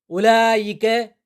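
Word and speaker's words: أولئك: ஹா உலாயி இவர்கள் உலாயிக்க அவர்கள் உலாயிக்க ஹா உலாயி என்னும் சொற்கள் உயர்தினை சொற்களை இவர்கள் அவர்கள் என சுட்டிக்காட்ட பயன்படுத்தப்படுகிறது உலாயிக்க என்னும் சொல்லில் வா என்ற எழுத்து உச்சரிக்கப்படுவதில்லை காலத் நம்லன் எறும்புகளே உங்கள்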